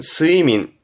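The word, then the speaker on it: 睡眠: 수면입니다 요게 수면네 발음은 스이민 스이민에서 음은 민이에요 스이민 뭘까요 그렇죠 불면증이라고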